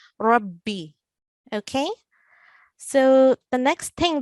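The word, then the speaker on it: رَبِّ: As you can hear with my pronunciation, I'm doubling the letter ba, Rabbi.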